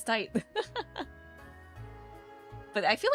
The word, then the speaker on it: Tite: So wild to me how it's supposed to be pronounced like tight, right? I remember I was like, isn't? I read it. I'm like, Tite Kubo? That's how you like say things in Japanese, right? But no, it's tight.